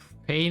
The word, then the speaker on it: pain: Pain in French means bread, pronounced like that.